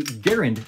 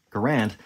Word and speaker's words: Garand: silencer but just like technically garen is the proper pronunciation for this not grand um well check the